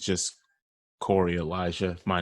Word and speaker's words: Koerri: name and spell it please my name is Corey Corey is spelled KO e RR I